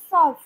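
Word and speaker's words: सौंफ: এখানেও দেখুন যে আমরা উচ্চারণ করার সময় কিন্তু নাকে তোলা উচ্চারণ হচ্ছে সফ।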